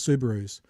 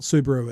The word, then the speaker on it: Subaru: If Subaru said, look, the world over, we want them to be sold as Subarus, would it be an attack on anyone's, personality or whatever to correct them for saying it's not Subaru, it's pronounced Subaru?